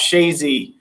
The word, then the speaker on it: Chazy: stock in is called chazy new york chazy everybody has a different name for it when they see it written down but it's pronounced shazy and that's where the